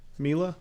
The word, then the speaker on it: Mila: to say her name I heard her say her own Mila mm-hmm okay yeah because Hooked on Phonics would go with my lie in my opinion it's